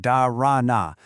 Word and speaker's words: Dhāraṇā: The word darana, and you'd say it like darana, comes from the Sanskrit root dar, which literally means to hold.